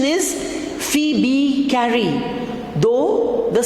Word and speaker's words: Phoebe Cary: The pronunciation is Phoebe Carey, though the spelling goes like this, Phoebe, right?